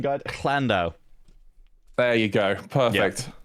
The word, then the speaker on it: Llandow: I'm looking at the pronunciation guide. Llandow.